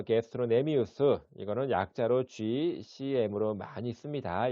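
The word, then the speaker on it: gastrocnemius: 장단지근은 게스트로 여기 C는 묵음입니다. 그래서 게스트로네미우스 이거는 약자로 GCM으로 많이 씁니다.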